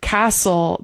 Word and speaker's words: castle: Well, we have I would say in the case of castle, that's a word where the T is just not pronounced at all.